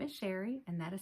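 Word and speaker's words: Chere: My name is Sherry and that is spelled C-H-E-R-E. It is spelled a little fancy but pronounced plain old Sherry, and I'm a full-time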